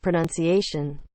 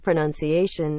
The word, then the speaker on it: pronunciation: know what happened there the pronunciation of pronunciation always used to say pronounciation until someone called me out on it that West Virginia